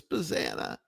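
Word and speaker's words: Bazzana: pick and they picked Travis Bazanna, which rhymes with banana. which rhymes with Savannah, which is where he should be playing.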